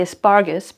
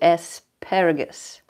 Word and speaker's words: asparagus: bling egg damn so I want to say aspargus because spus is the German name actually sparle but um that's why I mispronounce this all the time and because there's an era in there that my brain does not want to see so asparagus asparagus to